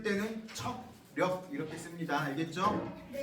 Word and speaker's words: 척력: 근데 발음할 때는 청력 이렇게 상관없어요. 네. 우리가 듣는 힘 청력이잖아. 그렇죠? 그거랑 발음은 똑같아도 되는데 쓸 때는 척력 이렇게 씁니다.